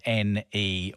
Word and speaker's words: Neyyah: It's called Neyyah, spelled Neyyah, but pronounced Neyyah, and as you heard,